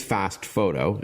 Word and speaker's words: FastFoto: So, the name of the product is Fast Photo. And we should tell our listeners it's spelled F A S T F O T O.